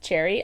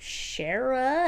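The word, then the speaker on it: Cherryh: egg bye CJ Cherry I realize it's pronounced Cherry I I was like Shara and then I looked it up and I was like oh okay uh anyway this is a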